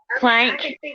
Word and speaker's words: Planck: say her last name plank plank i always want to call it like link so you can go